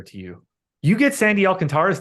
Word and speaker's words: Alcantara: pronunciation Alcantara yeah no those final two syllables aren't one syllable watch what Marlins get